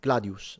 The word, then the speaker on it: gladius: Uh the gladius as well. Gladadio, not long, it's short. Yeah, gladius. So it has the little u it means it's short.